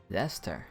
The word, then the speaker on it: Leicester: which is for students of the Leicester Alliance Leicester okay so that's how you pronounce it either was they Chester they sester